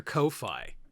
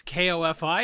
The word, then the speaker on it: Ko-fi: It's got Fi in it, like Wi-Fi.